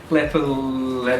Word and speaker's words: Lapalux: Like Lapalux. I reckon it's Lapalux. Yeah, like Lap of Luxury.